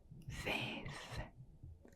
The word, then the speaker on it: vijf: words we have today because it has a sound that doesn't exist in English. So 5 is vijf, vijf, vijf. So the IJ is E, so it makes vijf, vijf, vijf.